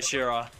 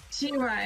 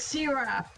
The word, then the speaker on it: Sira: I made a real good choice, did I, Shira? Yeah. But you say my name wrong. Huh? Sira is it the name. I said Shira. Oh. I said Shira. It is Sira.